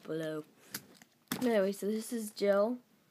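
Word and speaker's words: Gili: Anyway, so this is Jill. It's actually spelled G-I-L-I, Jill.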